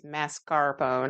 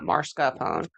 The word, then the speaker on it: mascarpone: And it is m a, it's not m a r, it's mascarpone, not marscapone. Everybody says it wrong.